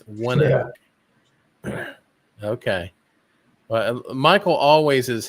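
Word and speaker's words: ONEOK: Oh, One Oak is the pronunciation. Okay. So One Oak. Okay. So it's not Oni Oak. It's One Oak.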